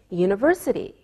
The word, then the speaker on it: university: don't pronounce the h we say a university because University sounds like a y sound same with a European